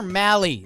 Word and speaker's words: Mahle: Tyler Mahle rhymes with rally.